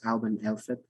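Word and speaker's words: Alban Elfed: So I want to talk about a Druid celebration as well, which is generally pronounced Alban Elfib.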